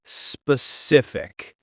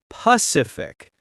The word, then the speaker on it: specific: When I was a kid, I had trouble pronouncing the word specific. Oh, that's a hard one for many people. I used to say Pacific, like the ocean.